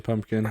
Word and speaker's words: pumpkin: Is there a P in pumpkin, like another P? Yes, there is. I think. I mean, you don't pronounce it with that P.